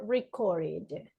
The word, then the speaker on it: recorded: If my last sound is D, in which category I need to put it? ID.